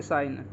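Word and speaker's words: sign: एक और वर्ड है जैसे साइन इसको साइन बोलते हैं और साइन की spelling S आई जी एन होती है बहुत सारे बच्चे इसको भी बोलते हैं लेकिन ऐसी गलती नहीं करना ये साइन ही बोला जाता है इसको क्योंकि यहां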